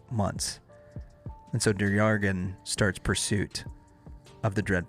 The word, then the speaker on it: Der-Yeghiayan: Now, this is we're saying Duryagan. That's how we're showed that it's pronounced.